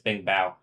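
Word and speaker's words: 冰雹: I was already telling you it's Bing Bao.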